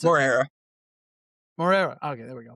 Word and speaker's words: Moreira: Is that how you pronounce it? Moreira.